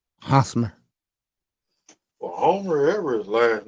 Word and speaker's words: Hosmer: Is it Eric Homer? Hosmer. Or Homer, ever his last name. Yeah, Hosmer. I can can't see pronounce that.